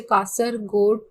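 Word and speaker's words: Kasaragod: इसका कासरगोड, इसको कोई देखो इसके डिफरेंट प्रोनाउंसिएशंस होते हैं, बट I call it एज ए कासरगोड to Thiruvananthapuram तक का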